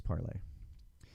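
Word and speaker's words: Parler: be not correct but the name is pronounced as the french verb to speak or to say which is parlay oh my god i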